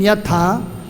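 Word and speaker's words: यथा: So the first one, Lagu, is pronounced short, and the second one, the Guru, is pronounced long.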